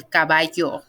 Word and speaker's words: caballo: on a and then el caballo that double l is a yo so like yo me